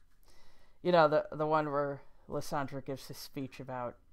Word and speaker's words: Lysandre: In case you're wondering, by the way, where I'm getting the pronunciation of Lysandre, it's from the French version of Generations.